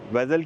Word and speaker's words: Vezel: चलूं कि पाकिस्तान में बहुत सारे लोग इसको वीजल कहते हैं सो ये वीजल नहीं है हम इसको प्रोनाउंस करेंगे वेजल वेजल बेसिकली इसको इसलिए हम